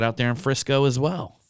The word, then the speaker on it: Frisco: in frisco as well frisco frisco yeah i like to say that name you do yeah i do yeah i like it a lot it rhymes with my mom's favorite cooking oil crisco my mom made everything